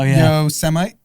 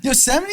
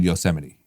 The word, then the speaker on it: Yosemite: his script but he didn't know how to say it no so he said you know semite yes i'm an anti-yo semi oh my god yosemite is not that obscure